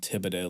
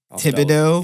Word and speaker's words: Thibodaux: town that's not far I'm gonna go with Thibodaux Louisiana Thibodeau yep I'll spell it for you okay okay it's thi oh